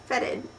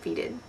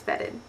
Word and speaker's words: feted: them um are words that I have been mispronouncing would you like to hear them you would okay what about feted FedEd I would have said feeded it's FedEd for bad I really like this word cuz